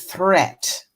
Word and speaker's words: threat: Watch out for meat and great and threat. So again, they all look the same. Watch out for meat and great and threat. They rhyme with sweet and straight and debt.